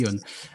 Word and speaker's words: Aeon: Et justement, tu parles beaucoup donc de cette JV avec j'ai peur d'écorcher le nom, c'est Ion, c'est comme ça qu'on prononce? Ion. Pardon, oui. Ion.